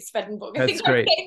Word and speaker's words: Swedenborg: of swedenborg's i i i have to pronounce it svedenborg i think he's been